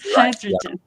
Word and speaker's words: hydrogen: Hydrogen. The emphasis is the emphasis is on the first syllable.